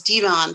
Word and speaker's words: Devon: was just as clear her son was divon pronounced like levon divan was her first